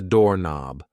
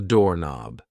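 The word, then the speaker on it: doorknob: This thing here is a door knob. A door knob. Yes. The K and knob is silent.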